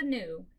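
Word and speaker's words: gnu: Gnat is spelled G-N-A-T. The next one is new. There is a new at the zoo.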